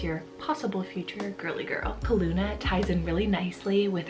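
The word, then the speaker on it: Calluna: Asia, and that is the name Kaluna. So spelled C-A-L-L-U-N-A. That sounds so cute. Okay, I feel like Kaluna would be such a great alternative to the popular name right now, Luna.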